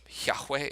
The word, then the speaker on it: Yahweh: And this would be pronounced Yahweh.